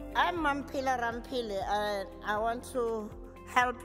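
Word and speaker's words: Mamphela Ramphele: hand i'm pilar rampili and i want to help you pronounce my name it's not mancilla man pila rampili i'm a south african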